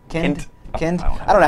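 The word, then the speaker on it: Kindt: It's Kind with a T. Kind.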